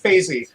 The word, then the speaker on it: Faizi: So, okay, FAIZI, which is interesting because it was like some people say, nothing phases me.